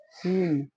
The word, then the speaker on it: scene: जब किसी वर्ड में ई के बाद कॉन्सोनेंट आए और कॉन्सोनेंट के बाद ई आए तो ई का उच्चारण बड़ी ई हो जाता है। जैसे SCENE सीन, COMPLETE कंप्लीट।